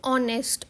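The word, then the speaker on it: honest: ये मैटर करती है तो जैसे ऑनेस्ट ऑनेस्ट की जो एच से है एच साइलेंट है और उसकी हमेशा जो आवाज है जो साउंड है वो ज्यादा हमें देखनी पड़ती है और अ की साउंड आती है तो अ के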